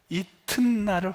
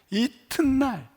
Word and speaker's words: 이튿날: 제가 오늘 일부 때 이튿날을 확실히 아주 정확하게 발음을 하며 배웠습니다 우리 국어 선생님 앞에 선생님이 계셔가지고 이튿날 이튿날 여러분도 해보세요 한번 이튿날 잘하시네네 잘하셨어요 이튿날 넥스트데이